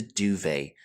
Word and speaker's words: duvet: A blanket which is filled with feathers and commonly found in European countries is the duvet. This is a French term, so we don't pronounce the T here.